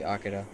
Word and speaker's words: Akira: Yeah, that's the Japanese way. That's how you'd hear it from a Japanese person, would be Akira.